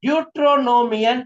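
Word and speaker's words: Δευτερονόμιον: நீங்க இத சரியான விதத்துல உச்சரிக்க வேண்டும் என்றால் டியூட்ரோ என்கிற அந்த ஓ வர்ற இடத்துல மேல இருந்து கீழே வர்ற மாதிரி ஒரு கோடு ஒண்ணு போடுங்க. அப்படி ஒரு கீழே கோடு போட்டு அது பிரிச்சுக்கோங்க.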